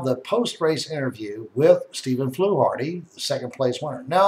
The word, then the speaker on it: Fluharty: Flity. Flu Hardy. All right. So, why don't you introduce yourself again, Mr. Steve? Pronounced your last name correctly for us. Steve Hardy. Steve Flu Hardy.